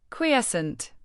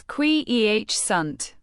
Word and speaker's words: quiescent: Quiescent. Pronounce it as kwee-eh-sunt.